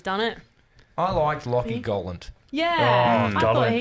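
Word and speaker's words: Galant: It is said Gollant.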